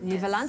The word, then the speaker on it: Nieuweland: Well, that's how I was checking how to pronounce it, because in English people say Newlands, in Afrikaans you say Nieuweland. So how do you guys say it? Nieuweland. Nieuweland.